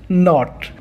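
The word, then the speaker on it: knot: के एन ओ टी नॉट, एही word रे के रो उच्चारण करा जायनी।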